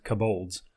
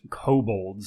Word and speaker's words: kobold: that's very common is i pronounce uh kabul's kabolds a lot of people will tell me how it's pronounced kobolds and i'm like i'm